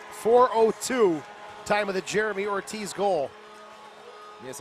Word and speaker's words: Ortiz: time of the Jeremy Ortiz goal yes I believe in his native tongue it's pronounced oat cheese but for our purposes Ortiz will do one one and a